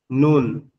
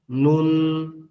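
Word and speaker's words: نون: এরপরেরটা হচ্ছে নুন। এরপরের অক্ষর হচ্ছে নুন। নুন। এরপরের অক্ষরটা হচ্ছে কি? নুন।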